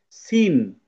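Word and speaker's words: scene: তারপর এটাকে আমরা পড়তাম স্কিন, স্কিন কিন্তু আমরা পড়ি না, আমরা পড়ি সিন, সিন।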